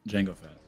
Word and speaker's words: Jango Fett: django unchained and brandon the d is silent jango fett it's so silent you didn't write it that is correct jango fett uh and your seventh